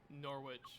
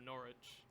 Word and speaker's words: Norwich: made fun of me for mispronouncing Norwich, or as it's really called, Norwich.